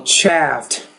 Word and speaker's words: chafed: Sheffield, But it's only one syllable. Chaffed. And it ends in a T.